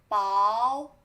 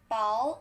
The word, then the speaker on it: 薄: Thin, which have two pronunciations. One is 薄, another is 薄. And the difference is 薄 is thinner than 薄.